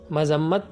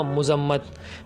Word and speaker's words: مذمت: وہ لفظ ہے مذمت۔ مذمت ٹھیک تلفظ ہے، لیکن آپ نے جو سنا ہوگا وہ ہوگا مذمت۔ مثلاً وزیر اعظم نے